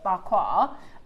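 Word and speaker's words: Pa Kua: so it's P-A-K-U-A. It means, but you pronounce it barquois.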